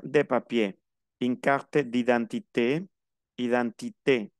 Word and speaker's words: identité: Identité. Termina en E y tiene tilde, se pronuncia la E.